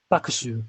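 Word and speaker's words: 麦酒: I'm sure, but that's the pure Japanese reading, isn't it? That's a pure Japanese reading. Yeah, Mugisake, yes. Mugisake. But usually it's pronounced like bakushu. Bakushu. I don't know why. I don't know why not Mugisake.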